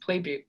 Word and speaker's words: Plebuc: pronounced Playbuke. Plebuc.